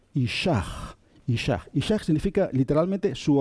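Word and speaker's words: אִישָׁהּ: Y cuando lleva un puntito dentro, se pronuncia como una J un poquito suave. Ishach.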